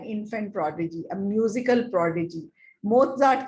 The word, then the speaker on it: Mozart: ये ना Mozart है, पर इसकी pronunciation है Mozart। यहाँ पे त की pronunciation है, I don't know कहाँ से आई है, पर वो है।